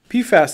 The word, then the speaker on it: PFAS: PFAS is a good way to pronounce it.